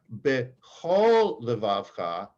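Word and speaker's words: בכל: sound of ah however because of its position in certain words it takes it becomes a kamat's katan which is pronounced as oh so here in the um as saul very correctly pronounced we have behol now in a prayer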